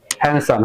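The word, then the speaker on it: handsome: तो मैंने कहा इसमें डी साइलेंट होती है, हैंडसम है ना, तो एज हैंडसम एज।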